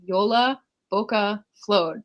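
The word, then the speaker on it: Jólabókaflóð: anyone knew was on yola boca flowed that's how you say it you just keep the same sound and we just do yola for short kind of like yolo because it's kind of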